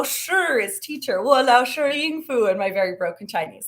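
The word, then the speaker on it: 英孚: you can practice that ready ying like ying yang yeah ying fu like food but just no so ying fu um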